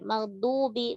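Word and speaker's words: الْمَغْضُوبِ: Maghdubi, maghdudu, du ini pakai ujung lidah. Du pakai tepi lidah. Bi tipiskan. Maghdubi, bi gak maghdubi, bi. Ya, karena dia setelah dot bisa jadi kadang masih nyisa tebalnya.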